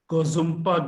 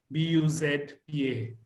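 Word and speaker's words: Ngozumpa: It's called the Gozumpa Glacier. And actually, it starts with the N, Ngombuzpa. Wow. So it's a bit of a tongue twister to pronounce.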